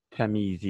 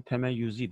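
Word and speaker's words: تمییزی: arkadaşlar dokuzuncusu Nuh Nakşi temyizi ya da temeyyüz diye de okunur Ben Teme yüzi diye okumayı tercih ettim yani onun belirgin hale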